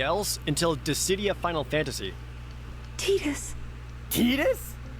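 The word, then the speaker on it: Tidus: Tetus. Tetus. It's pronounced Tetus. Bro, look, I like every other single English- speakaking person out there has always pronounced it as Titus.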